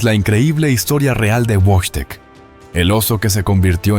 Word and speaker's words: Wojtek: El osesno fue bautizado como Wojtek, pronunciado Wojtek, que en polaco significa el guerrero sonriente, o el que disfruta de la guerra.